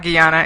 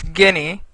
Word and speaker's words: Guinea: The congressman that kept saying Guyana as one of the countries. It's not Guyana, it's Guinea.